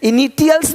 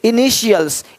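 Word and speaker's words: initials: अब यहाँ देखो कि टी के बाद ए आई इस तरह से वर्ण रख देखो तो टी का ध्वनि श होता है। देखो क्या बोलते हैं, इनिशियल्स। अब यहाँ पे टी आई है, इनिटियल्स नहीं बोलते, इनिशियल्स, इनिशियल्स, इनिशियल्स।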